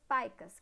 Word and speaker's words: PICA: que são as famosas paicas, que se escreve PICA, mas a gente pronuncia paica.